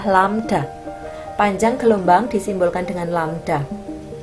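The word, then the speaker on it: lambda: ini huruf seperti ini Ini bacanya adalah lamda panjang gelombang disimbolkan dengan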